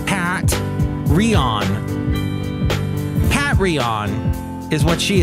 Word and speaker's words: Patreon: If you'd like to find out more about her, Patreon is spelt like Pat Rion.